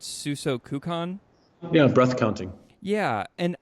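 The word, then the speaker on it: 数息観: is called, I believe I'm saying it right, Suso Kukan?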